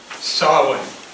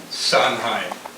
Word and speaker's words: Samhain: Samhain. Have you ever heard that name? You probably have read it. It's spelled S-A-H, or S-A-H-E-I-N, or S-A-N-H-E-I-N, Samhain.